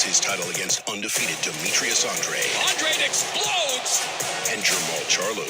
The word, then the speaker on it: Andrade: It is Andrade, it's not Andrade, as it's spelt, and we got that